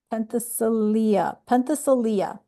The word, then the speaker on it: Penthesilea: Penthesilea. Penthesilea. That's how it's pronounced.